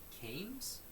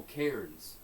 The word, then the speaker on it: cairns: They're called Caims? Caims? C-A-I-M? The rocks? That's what. Caims? Caims? Caims? I don't know how they say it. Caims? The rock piles are called C-A-I-M-S. Oh, cairns.